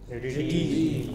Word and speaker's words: Redeem: Redeem. This is hardly heard. This is hardly heard. It is reduced. It is very short. Okay. But the other thing is long. How do you pronounce it? Redeem.